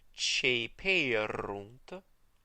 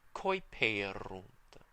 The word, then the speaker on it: ceperunt: And since the OE is pronounced E in the ecclesiastical pronunciation, the C that comes before it is pronounced ch as well. Ceperunt. And in the restored pronunciation, you'll remember it's just coiperunt.